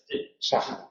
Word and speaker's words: Sáhara: Y ahora hay H. Sáhara, sí, Sáhara, sí. Sí, en los préstamos hay la pronunciación de la H aspirada en los préstamos, es una pronunciación que se toma de la lengua de origen.